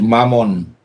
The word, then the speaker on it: Mammon: people obviously and uh their god is mammon uh which rhymes with lamon you know uh uh